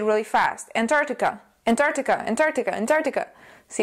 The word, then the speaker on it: Antarctica: when you say it you can start with the first syllable which is an the second syllable is Arc keep in